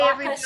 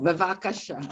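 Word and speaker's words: בבקשה: Bye, Bavakashas, everybody. You're welcome. Well, how do you say you're welcome? You're welcome. Bavakasha. Oh, bevakasha. Okay. Lavakasha.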